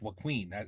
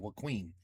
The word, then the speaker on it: Joaquin: I think it's Joaquin. That's how you say it. Joaquin.